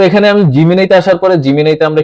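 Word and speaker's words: Gemini: এসে আমি সার্চ করব জিমিনি লিখেজিনাই এটার আসল উচ্চারণ হল জিমিনাই ঠিক আছে এই জিমিনাই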